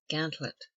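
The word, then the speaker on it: gantlope: see cantaloupe or cantaloupe commonly pronounced gantlet a race which a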